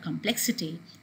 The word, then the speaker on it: complexity: has a different suffix in complex the stresses are come and when a word complexity is derived from it you have the stress on plex in the same way